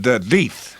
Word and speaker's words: Death: address and telephone number your name is death pronounced de with a long e my grandfather had an